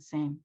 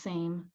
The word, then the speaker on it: SAM: is um it's a it's a play on the phonetic spelling of the word same so it just it's pronounced same a lot of people